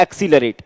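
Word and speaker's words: accelerate: तो ज्यादातर केस में जब ये दोनों सी लेटर एक साथ आते हैं, तो पहले सी का प्रोनाउंसिएशन क्या होता है, दूसरे सी का से होता है एक्सीलरेट, A double C ई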